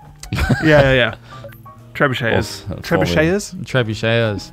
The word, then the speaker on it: trebuchet: cars a bomb word is tree butcher yeah yeah trebuchet is true shaders trebuchet is yeah I was I pronounced it tribute cheers yeah triple tree don't don't data 550 he